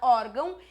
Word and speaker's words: órgão: no final e é sinal de nasalização só e somente para indicar que quando a gente pronuncia a palavra órgão o ar sai pelo nariz não vai tá dando para fazer hoje porque eu tô com um pouco de dificuldade mas pessoas normais conseguem fazer tá que é pronunciar a palavra órgão e o ar sair pelo nariz porque eu tenho o